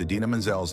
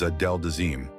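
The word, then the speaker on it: Idina Menzel: Oscars mistake at the 2014 Oscars Travolta hilariously mispronounced Adina Manzel's name as Adel deim the blunder became an internet sensation with fans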